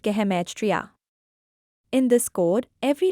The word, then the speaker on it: gematria: Hebrew has a special code called gematria, pronounced gematria.